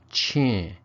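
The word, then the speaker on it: ချင်: the particle now pronounced Ching instead of G well as I've covered in an earlier lesson if the syllable that comes before ends with a stop tone then it's pronounced with that CH sound an aspirated pronunciation in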